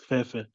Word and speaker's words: Fefe: A lot of people do say Fifi, but it's Fefe.